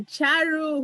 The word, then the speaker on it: Charu: I've got Charu, who's going to tell me how to pronounce her name from Singapore.